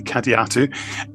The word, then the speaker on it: Kadiatu: You mentioned Cadiatu, or interestingly, as David Banks pronounced it in the Iceberg Talking Book, Kadiatu, but obviously I have spoken to Ben and it's definitely Kadiatu.